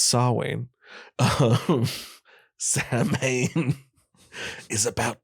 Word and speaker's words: Samhain: isn't about sacrifices samhain by the way it's pronounced saw wayne oh sam mayne is